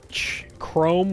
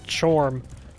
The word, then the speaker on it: Chrome: When I was younger, meaning when I was in high school, I thought Chrome was Chorm, or Trom. Because that's how it is spelled. Nope.